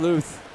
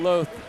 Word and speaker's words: Loth: Redowdy steps out into Grant Luth. Grant Loth, excuse me. Grant Loth rhymes with both, I have to remind myself.